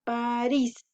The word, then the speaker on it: París: También otro ejemplo es en la palabra París. Esta lleva la mayor fuerza en la última sílaba, que sería eris. Y como termina en S, también va tildada.